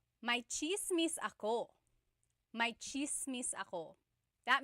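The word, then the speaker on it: tsismis: One thing, in Tagalog, it's spelled with a TS. The TS combination makes that cha sound.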